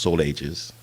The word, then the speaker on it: Solage: This young character, Godfrey Solage, in the islands, in the island vernacular, it's actually pronounced Soul Ages, but that will also come into play here as you go along.